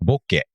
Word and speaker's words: bokeh: japan so in japanese it's actually originally a japanese word it's pronounced bokeh okay yeah we just